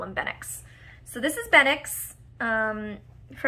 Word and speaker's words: Bennix: his full-time name, is Benix, which is B-E-N-N-I-X. It's extremely close to Benelux.